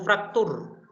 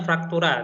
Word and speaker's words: fraktura: Yang keempat adalah fraktur. Tulisannya fraktura, tapi bacanya fraktur.